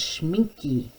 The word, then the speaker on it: Schmincke: i'll be using some really high quality ones schmincke and sennelier is how you say that these